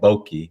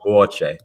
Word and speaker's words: Boakye: and I've always said Boakye, but I never said her name to her. I call her Nana. So Boakye. Okay, got it. The Tree language, Vietnam language, KY is pronounced ch.